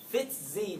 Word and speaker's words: FtsZ: filament would act more like microt tual versus fit Z that's how that's pronounced it's ftsz is fit Z is looks more like tubulin